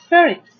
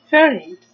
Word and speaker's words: pharynx: The first syllable we have ph, make the sound f, like letter f, f, a, r, fur. Then we have here y, make the sound like I, but short vowel e, ings. So pharynx.